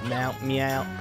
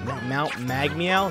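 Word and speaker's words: Mount Magmeow: Cat Mount Meow. Mount Mag Meow. That's how it's pronounced.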